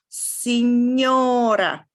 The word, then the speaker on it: signora: so on right so this is the same sound yeah is spelled with a gn so if you have this is lasagna and then signora another little thing to